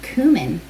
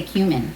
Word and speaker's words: cumin: tablespoon of cumin seed i'm pronouncing it fancy for you cumin i usually say cumin is that right and this has a